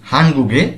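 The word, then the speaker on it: 한국의: হাংবুক Korea ওই পার্টিকেলটি কোন একটি শব্দের শেষে এলে এর উচ্চারণ হয় এ এবং বাংলা অর্থ হলো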